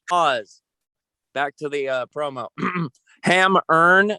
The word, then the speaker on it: Hemmerne: Hammerne, that's spelled Hemmerne, and Gilded Wings.